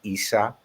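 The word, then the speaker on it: عيسى: and by the way in uh Arabian it's um pronounced Isa so they don't need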